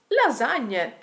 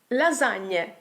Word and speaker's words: lasagne: GN is never hard like in English: it’s not gn but [ɲ]; for example, LASAGNE. Just remember this single word and you’ll be fine: LASAGNE, LASAGNE.